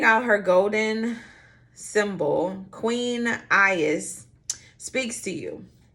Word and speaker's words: Aries: All right, Aries is how you pronounce it.